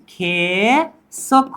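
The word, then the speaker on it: 계속: खेसुक क्या होगा इसका प्रोनाउंस? खेसुक होगा।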